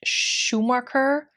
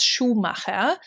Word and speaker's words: Schumacher: from the american market but americans tend to pronounce it schumacher or something along those lines it's schumacher which technically means shoemaker however her name is